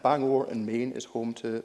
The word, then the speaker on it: Bangor: still get her on as their Bangor not bang bang over and Bangor and Maine is home